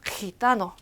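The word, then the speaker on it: gitano: 히타노, 히타노. 자, 여기 목 뒤에서 나는 소리로 히타노라고 하시면 되는데 선생님 이거 흐 소리 강하게 하는 거 좀 부끄러워요 하는 분들이 있어요.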